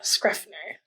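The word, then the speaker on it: Schrefer: There you go, Scuffner.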